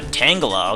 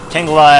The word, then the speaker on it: Tangela: Because I think it's supposed to be like, Tangle, like, you know, Tangela as in Tangle, because it looks kind of tangly, but whatever.